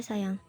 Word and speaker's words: sayang: Contoh pada kata sayang ditulis sajang pakai J. Tetapi hanya berlaku untuk tulisannya saja ya. Kalau misalkan pelafalan sama cara bacanya itu tetap dibaca sayang.